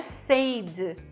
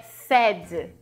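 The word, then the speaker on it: said: a letra A porque o passado do sei não é seid é sad então você vê que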